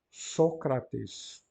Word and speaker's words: Sócrates: vocês lerem corretamente tanto reparem Sócrates a da penúltima sílaba ele está marcado com uma braquia significa que ela é breve portanto a penúltima é breve o acento vai para trás Sócrates e também está